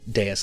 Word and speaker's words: dais: A dais, like a small altar, essentially. How do you spell it?